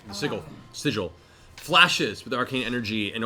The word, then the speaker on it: sigil: beginning to pulse with arcane energy, a familiar "siggle," one that you think actually-- LAURA: (whispers) Sigil.